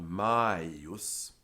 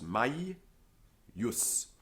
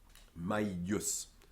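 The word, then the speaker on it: maius: over it is misleading because it's the way the dictionary is telling us that the following consonant is a double consonant and so it's my use and the letter i is actually a yep it's continental and it's doubled my use similarly if you look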